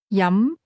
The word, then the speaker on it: 飲: This word has a mid rising tone. Yum.